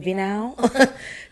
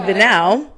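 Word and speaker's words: Vinhão: I'm going to assume that H is silent. Vinau.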